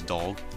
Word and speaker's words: Dolg: on Horseback his name's dog I wanted to call him dog when I was pronouncing this but it's d o l g so my bad it's dog and dog